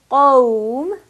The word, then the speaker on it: قوم: So, for example, qawm, I'm giving lean to the waw, but I still have to give the heavy qualities to the qaf.